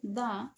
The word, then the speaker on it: the: ইংরেজি শব্দ THE এর উচ্চারণ দা, দি।